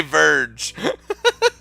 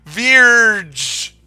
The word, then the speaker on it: Vierge: I'm just gonna say Verge. It's Vierge is how I refer to her.